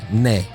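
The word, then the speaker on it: 네: Nay. Nay. You know, which nay is for no, but you know, nay. It's just a single syllable. It's easy to make that sound. To say yes is nay.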